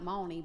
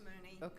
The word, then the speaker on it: Mooney: because it looks like Mony but it does it looks like Mony but it's pronounced Mooney goes back thank you